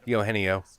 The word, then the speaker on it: Eugenio: It's a soft G. Eugenio.